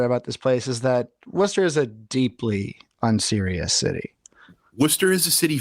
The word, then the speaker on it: Worcester: gotta always remember about this place is that Wester is a deeply unserious City Worcester is a